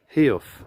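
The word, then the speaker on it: Heugh: Hugh, or Hug, is a Northumbrian word for a steep crag, and is pronounced Heof.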